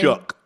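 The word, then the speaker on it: Shough: Tyler, how do you say pronounce his last name? Shook. Tyler Shook.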